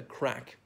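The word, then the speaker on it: craic: dressing up as women even crack now even people are not Irish will know crack spelt CRA I see I'm usually not spelling these words but not the usual spelling of crack meaning fun and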